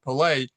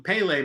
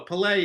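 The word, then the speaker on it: Pelé: I've called him Pele my whole life, and here you go, putting the accent on the lay part, so there we go. Pele is how he's known in the soccer world.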